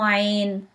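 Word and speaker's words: عين: Some people says Ain pronounced as A, but honestly, if you try to pronounce Ain in any Arabic word as A, you technically have an accent. So I want you to know ayn pronounced as not ah.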